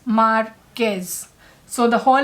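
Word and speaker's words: Márquez: You are not going to pronounce it as Marquez, it's Marquez, like pretend that there's a K over there, and it is Marquez.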